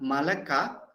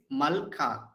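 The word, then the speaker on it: מלכה: So here in the first word, so Kumar is asking, it is not Malaka, but it is Malka, because according to the rule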